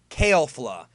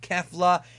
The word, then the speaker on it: Kefla: kale have fused into kale flow that is the pronunciation of the character it's not Catholic it's not kefla it's kid who Fatah kale flaw that is the fusion